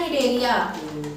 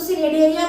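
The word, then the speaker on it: Cnidaria: दूसरा नाम होता है निडरिया इसको सिनेडेडरिया मत बोलना निडरिया बोलना ठीक है सी साइलेंट होता है इसमें नीमाटोडा ऑर्थोपोडा अकाइटोडर्माटा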